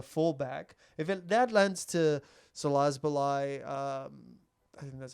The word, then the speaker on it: Szoboszlai: If that lands to Szoboszlai... I think that's how you say his name. Szoboszlai.